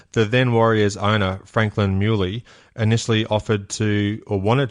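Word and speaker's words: Mieuli: how we always said you always remember stubborn as a mule muy I've got you okay thank you I won't forget that now so the then Warriors owner Franklin muy initially offered to or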